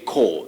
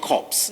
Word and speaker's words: corps: something that is cold cold not corpse not so corpse mighty okay but we